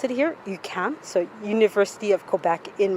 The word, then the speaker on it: UQAM: So that's how we pronounce it here, UQAM.